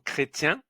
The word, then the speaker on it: chrétien: Attention à CHR, c'est le son creux. Avec un a, c'est cra. Avec un e, c'est creux. Avec un e accent aigu, c'est cré comme chrétien. Cri cro.